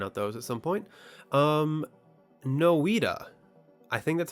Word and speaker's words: Noita: Noita, I think that's how you pronounce it, Noita. I think it's pronounced Noita.